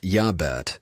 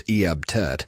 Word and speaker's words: Iabet: Pronounced Yabet or sometimes Eabt.